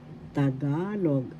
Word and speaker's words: Tagalog: The first syllable is ta, second syllable is ga, third syllable is log. Tagalog. The second syllable ga has the accent, so you pronounce this Tagalog.